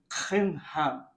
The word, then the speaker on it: Kimham: Marami ako narinig na mga pastor na sasabi nila, yung pronunciation nun ay Kimham. Dahil yung Jewish na background nila.